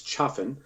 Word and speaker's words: Chaffin: know sensitive about that it's Chaffin CH AF fi n and he's from Huntington